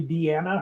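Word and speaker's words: Deana: It's spelled like it would be called Dina, but it's actually Deanna. Her mom forgot to add the second N, but still pronounces it Deanna.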